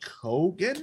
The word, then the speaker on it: Keoghan: It's the Joker, and it's Barry Keoghan. Keegan, I think is how you say it. Keegan. Man, Irish love a fun spelling.